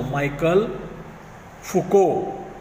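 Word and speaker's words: Michel Foucault: और हमारे इस लेसन में जो लास्ट का जो हिस्टोरियन है उनका नाम है माइकल फुको, प्रोनाउंसिएशन ध्यान में रखो, माइकल फुको।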